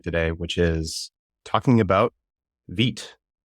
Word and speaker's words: Vite: I should have known that because I know a little bit of French, but for whatever reason I had always pronounced it vite when I first saw it.